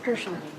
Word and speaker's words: Herschel: Harshal Desai? Shaw? Harshal? Herschel. Oh, thank you.